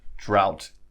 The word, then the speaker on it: drought: which is important about drought is notice the oh so that's pronounced with Oh sound drought but this word here